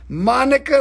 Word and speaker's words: Monica: Monica rhymes with Hanukkah.